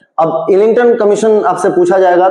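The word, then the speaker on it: Islington: अब इलिंगटन कमीशन आपसे पूछा जाएगा। तो इनका नाम है। ये ऐसा स्पेलिंग है। आई एस एल आई एन जी टी ओ एन इलिंगटन commission बोलते हैं।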